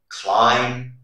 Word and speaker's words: climb: Rule number one, the letter B is not pronounced after the letter M at the end of a word. For example, bomb, tune, comb, thumb, climb, lamb.